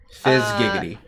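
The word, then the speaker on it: Fyzz Giggity: Okay, Fizz Gig, like a fizz gig. But also giggity, like giggity. So Fizz... Like giggity goo. Exactly, yes. Fizz Giggity.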